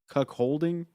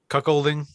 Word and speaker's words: cuckolding: holding there you go cuck holding cuckolding there you go oh the h is silent yeah yeah well i've